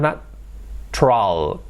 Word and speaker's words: natural: Y en vez de decir natural, decimos natural. Nos comemos prácticamente el sonido U y demás, lo hacemos todo junto, natural. Lo convertimos en dos sílabas. En vez de natural.